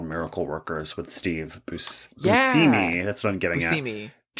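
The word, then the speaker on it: Buscemi: My friend John is an actor on a TBS show called Miracle Workers with Steve Busimi. That's what I'm getting at. John said that he learned that it's actually pronounced busimi.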